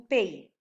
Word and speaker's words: pays: And you don't say pays, you say pay.